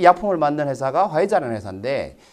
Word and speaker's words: 화이자: 어떻게 읽습니까? 화이자라고 읽습니다. 화이자.